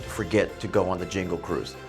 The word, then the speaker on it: Jingle Cruise: Oh, and don't forget to go on the Jingle Cruise. No, I didn't mispronounce that. It is Jingle, not Jungle.